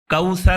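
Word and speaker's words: الكوثر: كَالْكَوْثَرَ، إِنَّا أَعْطَيْنَاكَ الْكَوْثَرَ۔ کوثر میں ثا ہے، کوثر کوثر، سیٹی کے ساتھ اس کو تلفظ نہیں کرنا ہے، کوثر۔ إِنَّا أَعْطَيْنَاكَ الْكَوْثَرَ كَالْكَوْثَرَ۔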